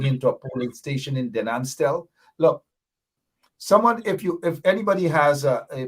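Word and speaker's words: Den Amstel: Maybe, I know Rhonda Lane doesn't have the number, but tell Jagdeer that the correct pronunciation for Denanstel is Denanstel, not Delemstel.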